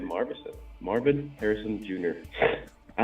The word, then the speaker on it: Marvin Harrison: Marvis Harrison. That's not his name. Marvison. What's what? Merit version. Do you really not know how to say his name? Like, be honest. I'm saying Marvison. Marvin Harrison Jr.